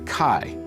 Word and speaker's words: chi: The center of the X, or as it's pronounced in Greek, the chi, as in Alpha Chi Omega.